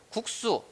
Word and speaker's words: 국수: 앞에 깍두기와 마찬가지로 국수 이거는 우리가 국수라고 누구나 발음을 합니다. 마찬가지로 몹시 같은 경우에도 몹시라고 발음을 합니다. 왜 이렇게 발음을 하죠? 이 앞에 있는 기역, 비읍, 받침 때문이잖아요.